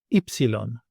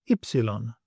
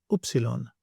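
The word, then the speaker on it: ύψιλον: Ypsilon, ypsilon, which you may also know as upsilon. This has the sound I as in the word Mary, I.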